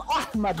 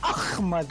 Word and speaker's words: Ahmed: Because I am Ahmed, not Ahmed.